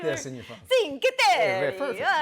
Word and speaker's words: Cinque Terre: I believe it's pronounced Cinque Terre. It is? It's a very popular... It's a very Say popular... it like this in your phone. Cinque Terre.